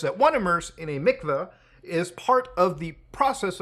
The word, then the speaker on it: mikvah: It actually says pronounced mikvah, so I was right in the first one.